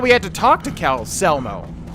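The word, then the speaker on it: Calcelmo: I thought we had to talk to Cal Selmo. Keep wanting to call him Calchelmo, but I think it's Selmo. That's how Enier pronounced it.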